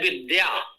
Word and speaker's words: विद्या: बहुत पचले शब्द है विद्या विद्या में व तो हो गया द और या है विद्या में बहुत से लोग धा पढ़ देते हैं अब इतनी भी जान